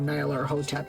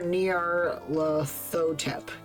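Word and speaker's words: Nyarlathotep: eons from being shared there's no official way to pronounce that name since it's made up a nonsense word but I prefer Nar lotep whatever say it however you want to say it and don't feel embarrassed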